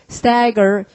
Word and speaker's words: stagger: 그 다음에 휘청휘청 거리는 거, 술 취한 사람처럼 걷는 거 stagger. 역시 자음에 둘러싸이니까 에라고 읽어야 되잖아요. stagger.